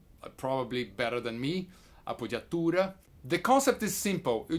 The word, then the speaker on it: appoggiatura: I can help it the name is a puja tour or even better a puja Torah it's an Italian name and I believe our